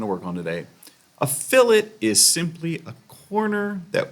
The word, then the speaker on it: fillet: Fillets, F-I-L-L-E-T, which spells a lot like fillets, like fillet of fish or filet mignon, but it's pronounced fillet.